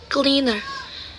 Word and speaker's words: cleaner: And the word stress on the first syllable in cleaner. So, cleaner.